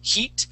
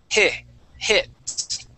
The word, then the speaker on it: hits: you're saying Heat okay using an e sound okay we want to use a short I and and so instead of saying heat we want to say h hits hits there you go okay now that I sound is the short IE sound hit okay hit good